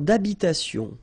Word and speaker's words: d'habitation: Une tour d'habitation. Remember, H doesn't exist in French, well, in most of the cases, so it does mean that you don't pronounce it, all right?